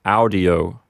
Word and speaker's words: audio: we howdy to them notice that with audio the peanuts is an open syllable and it has a short vowel so the accent recedes back to the first syllable so we get audio turning the page to